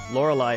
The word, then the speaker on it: Lorelei: link to Pokemon but Lorelei is a very beautiful name yeah the pronounce it where the live part rhymes with the why yeah well that's